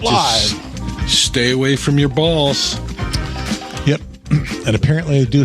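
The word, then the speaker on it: Bahls: Stay away from your balls. Yep. And apparently they do hang low. Which was a very cool thing. One last thing. I worked at Augustana College, and Steve Balls is the president of Augustana College, and he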